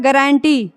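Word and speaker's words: guarantee: जी और ये गारंटी यू का कहीं भी उच्चारण नहीं हो रहा है उसी तरह से गिटार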